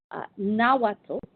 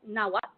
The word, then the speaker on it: Nahuatl: Nahuatl, N-A-H-U-A-T-L, Nahuatl, sometimes it's pronounced Nahuatl or Nahuatl, was the primary language spoken among the Mexica in central Mexico.